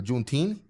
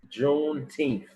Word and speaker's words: Juneteenth: gonna be talking about uh juneteen that's that's that's how you say it juneteenth he wants to talk